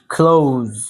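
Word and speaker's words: close: ট্রাই করেন ক্লোজ ক্লোজ এটা খ উচ্চারণ হবে সিটা খ উচ্চারণ হবে কলজ আর শেষে হ্যাঁ এই যে আপনার আরবিতে যা আছে না যা রজা সেই যাটা উচ্চারণ হওয়া হবে শেষে তো ক্লোজ ক্লোজ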